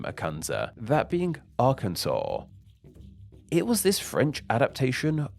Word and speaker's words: Arkansas: in French so because Arkansas is a word of French origin it maintained that French pronunciation with the S at the end remaining silent despite the fact it's